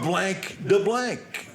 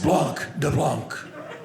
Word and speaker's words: blanc de blanc: We'll have about 2 of blank de blank. It's Blanc de Blanc. He gave me that pompous. So my friend points out all the silent letters and vowels you don't pronounce in French.